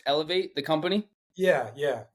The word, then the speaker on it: Elevate: Is it pronounced Elevate, the company? yeah. ELVT for short, but yeah, Elevate, yeah.